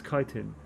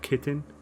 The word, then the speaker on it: chitin: for as a meanness I've always pronounced Athena's chitin but folks tell me even that's wrong and well I think I think one the voice actors actually pronounced it that woman home games for Pineda is either chitin or kitten he's definitely used it was only used with a K I shouldn't be watching